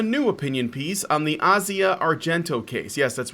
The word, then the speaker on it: Asia Argento: now written a new opinion piece on the Asia Argento case. Yes, that's right. It's pronounced Asia Argento. Sorry, it's just the way it's pronounced. So if you hear somebody say Asia, just correct them.